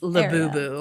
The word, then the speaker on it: Labubu: We have number 2 Pop Mart for capitalizing on the Labubu craze with live streaming, gamification, and a bunch of other things. It's Labubu.